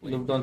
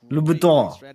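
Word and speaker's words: Louboutin: ओ red bottom वाला crystal लुबुटॉन। पर टॉन कैसे होता? टिन है वो तो TIN है पीछे। हाँ बट अभी है ऐसा प्रोनाउंसिएशन।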